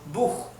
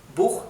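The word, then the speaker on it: Buch: a una J verdad por ejemplo bug bug que significa libro que se escribe así lo tenemos acá escrito igual eh bug bug se hacha al final se pronuncia J la s ch se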